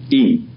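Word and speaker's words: ים: Now, the normal plural in Hebrew, not the only one, but the normal one, is adding two letters, im, which are pronounced im.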